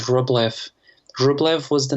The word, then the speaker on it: Rublev: in america there's a fantastic brand called roblev rublev was the name of of an icon painter from russia it's spelled r-u-b-l-e-v rublev and it's a fantastic brand